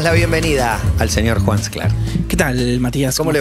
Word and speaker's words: Sklar: Sclar. Tampoco lo digo con S, con J. Juan Sclar, como mosca, que se escribe con J. Aspiramos la S antes de las consonantes oclusivas en español.